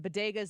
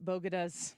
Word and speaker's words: bodegas: was it Harlem and bodegas in Harlem, or Dr. Jill says Bogadas. Bogadas. It's not even the right G&D location. It's not only a mispronunciation, she's mispronouncing the misspelling of it.